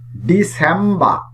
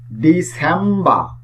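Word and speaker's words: December: Last one, ডিসেম্বর, ডিসেম্বর। এই শব্দটির শেষেও আর দেওয়া আছে, সুতরাং এই আর ব্রিটিশ ইংলিশে সাইলেন্ট থাকবে।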